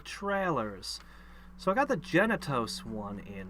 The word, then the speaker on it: Genitos: But you have to be really careful when you say Genitos to pronounce it and enunciate correctly. Because if you say it quickly, it ends up sounding like you're saying genitals. And it's like, no, Genitos.